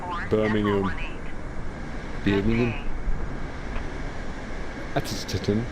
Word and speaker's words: Birmingham: It's Birmingham. There's no H. It's UM. That's how it's pronounced. Birmingham.